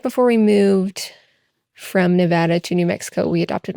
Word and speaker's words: Nevada: So, if you don't know, it's the capital, and it's Nevada. That's how you pronounce it.